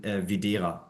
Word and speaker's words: Widera: it's an old Prussian name from schia it's pronounced in German viir viir and I I do believe your